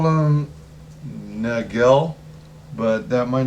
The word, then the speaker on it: Nagel: I I always keep I always call them Nagel but that might not be the right pronunciation um but it was n-a-g-e-l and it